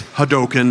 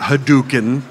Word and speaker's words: Hadoken: 2007 they said it's Ryu not Ryu it's hadoken not hadouken I go okay well you guys are paying